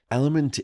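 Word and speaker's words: LMNT: of today's podcast is element uh and that's spelled l m NT element is a sugar-free electrolyte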